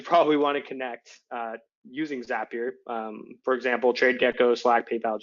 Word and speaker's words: Zapier: and the pronunciation is zapier rhymes with happier I said it wrong